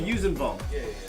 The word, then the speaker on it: Yuuzhan: I did do an issue of Star Wars Tales with the Vushis Vong. Is that how you say it, Mark? Oh, the Yuuzhan Yuuzhan? Yeah. The Yuuzhan.